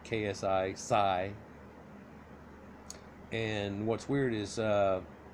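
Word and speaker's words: ξ: is like Sai right pronounced like ksi sigh and what's weird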